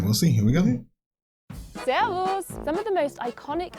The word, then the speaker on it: Servus: It's servus.